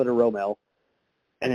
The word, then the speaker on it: romal: it right how do you say it so Romel is is how we say is how we